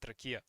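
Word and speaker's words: ракия: cured with rakia, and rakia is like we pronounce it rakia.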